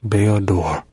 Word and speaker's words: Bao-Dur: Bao-Dur, who I pronounced his name wrong the whole video up until now. My name's Bao-Dur.